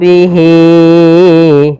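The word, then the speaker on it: بِهِ: Maka di sini ha damir untuk panjang mad silah qila itu adalah empat harakat sebagaimana mad jaiz. Empat harakat atau mad wajib. Maka kita panjangkan untuk panjang hnya adalah empat harakat. Wama yudillu bihi ya empat harakat baru pindah ke i.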